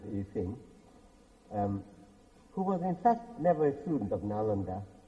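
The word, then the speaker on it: Yijing: There's now in Pinyin it's written with X-I-N-G, whereas Needham wrote with S-H-I-N-G. But of course spelling can't change the pronunciation, it's the same Chinese word, but I will pronounce it Yi Sing, who was in fact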